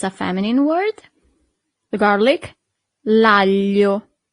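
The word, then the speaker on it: aglio: The garlic lio. Lio. Here we have this combination of letter that for foreigners is always a little bit e hard to pronounce.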